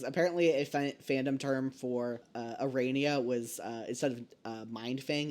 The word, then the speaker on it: Aranea: Arania. It's Arania, or Arania, or Aranea. Which Domi pronounced it once, and she said that was how it's supposed to be pronounced in, Greek or something.